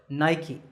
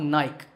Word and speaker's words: Nike: is the sportswear manufacturer Nike that's right it's not naik there are two syllables night and key in fact the company's